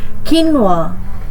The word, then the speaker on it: quinoa: For the word quinoa, the correct pronunciation is kinwa. This word does not follow its spelling, which often leads to mispronunciation.